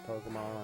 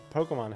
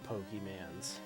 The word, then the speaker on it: Pokémon: Someone lost their Pokémon hat and he announced it and I was stunned. He got the pronunciation. He did not say Pokeymans. Like Bill Cosby in that one Simpsons episode.